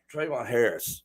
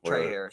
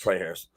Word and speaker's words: Trey Harris: Trayvon Harris. Or did I say his name wrong? Trey Harris. Trey Harris.